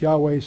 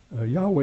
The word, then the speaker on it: Yahweh: So you might find me, Yahweh is a very common way of saying it.